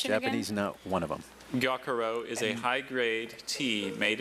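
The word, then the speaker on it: gyokuro: She's almost turning that first syllable into two syllables.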